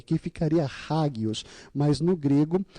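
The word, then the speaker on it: ἅγιος: Porque na verdade a palavra é águios. No grego, o H ele é mudo, ele não tem um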